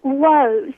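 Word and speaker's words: Lowe's: what's W I'm like it's it's Low's you know it's spelled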